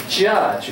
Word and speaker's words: judge: 在你小小的紧张，但是会慢慢勇敢嘛。好，那今天我要介绍三个句子，都跟美丽有关。第一个字叫做"物以貌取人"，记得过这个句子吗？物以貌取人就是 don't a person is，你们想起来啊？可以抄也不抄没关系。物以貌取人，第一个空格是 J 开头的判断，第二个是介系词，第三个字呢是有一个口诀叫出现似乎，名词叫出现外表的一个字。你们想起来？这时候我们就有优点，不同的班可以录到不同的影片，我们可以回家看不同的东西。好，第一个 J 开头，但它发音绝对不是 George，但很像 George，那个叫 Judge，预备，去，怎么拼？试试看，J U D G E，所以 Don't